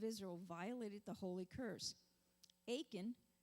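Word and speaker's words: Achan: violated the holy curse aiken which rhymes with bacon son of carmi son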